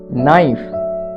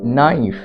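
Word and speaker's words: knife: আমরা আরেকটা উদাহরণ দেখি নাইফ কে এন আই এফ ই নাইফ এই নাইফ কিভাবে উচ্চারিত হলো নাইফ মানে হলো ছুরি দেখো কেটা সাইলেন্ট কে এর উচ্চারণ হলো না এন আই তে নাই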